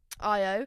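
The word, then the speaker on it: Ayo: I always go to say AO but it wouldn't be AO would it. I love um IO.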